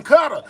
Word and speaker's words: Qatar: They ain't saying none of that. They said in cutter.